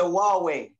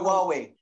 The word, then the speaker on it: Huawei: not allowed in america huawei that's why they got they got um it's a chinese brand isn't it oh how do you spell that um it's like hawaii yeah it's like the white well i heard of